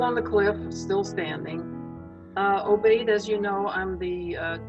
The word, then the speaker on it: Obaid: Obaid or Obaid? It's Obaid. Obaid.